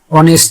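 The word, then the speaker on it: honest: এন ই এস টি অনেস্ট দেখো অনেস্ট অনেস্ট কথাটির অর্থ হচ্ছে সৎ তাহলে এইচ ও অনেস্ট দেখো এখানে এইচ টাকে আমরা বলছি না ও থেকে বলছি অনেস্ট আরো আছে আওয়ার এইচ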